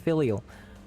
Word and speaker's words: filial: It's pronounced filial.